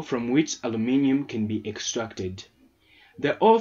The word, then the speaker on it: aluminium: about the extraction of aluminium or aluminum aluminum yeah Americans say aluminum weird huh uh that's not